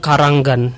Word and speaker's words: Kranggan: Karanggan, Kampung Karanggan. Jadi kalau kita mampir ke sana itu ee pengejaan keranggannya bukan keranggan ya, tapi Karanggan. Ada a-nya di tengah.